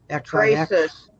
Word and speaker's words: XRYXIX: This guy here, how do you pronounce his name? XRYXIX. Crisis.